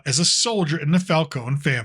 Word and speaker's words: Falcone: Now, I know, Falcone, depending if you're reading the comics or watching it on TV, there's different pronunciations. For this, we're going to go with Falcone.